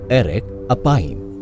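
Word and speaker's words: אֶרֶךְ אַפַּיִם: इब्रानी भाषा में क्रोध करने में धीमा का उच्चारण है एरेक अपाइम, या शाब्दिक रूप से लंबी नाक वाला।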